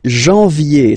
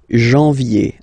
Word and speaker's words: janvier: But anyway, janvier, so that's the way to pronounce it. Janvier, A-N, en, okay, and then ye, janvier.